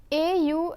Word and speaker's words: au: lay contracts - they au and aux are both pronounced as oh but au precedes a singular noun while aux precedes a plural noun now let's see how